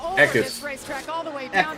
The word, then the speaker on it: Eckes: I love the How do you pronounce his name? Eckes? Eckes.